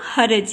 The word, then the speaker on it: حرج: کی علامت آئے گی۔ پھر ہے حرج، حرج صحیح تلفظ ہے اس کا حرج، یعنی ہے کے اوپر بھی زبر، رے کے اوپر بھی زبر، تو یہ بن گیا حرج، یہ حرج نہیں ہوتا، رے کے اوپر سکون